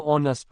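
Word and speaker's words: honest: is underscore underscore underscore ऑनस्ट मैन एन एच is silent sound is ओ वाव 22 she died underscore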